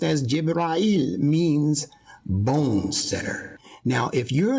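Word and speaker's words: جبرائيل: not aware that the name gabriel in arabic pronounced as jibrael bone center now if you're not yet understanding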